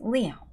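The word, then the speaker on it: Lion: Written like this, but pronounced Leon.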